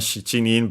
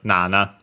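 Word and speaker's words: 七: gone in brokunin uh technically also for seven shining but uh more often than not uh than not nowadays we use the strictly Japanese reading also for that nana nan and then we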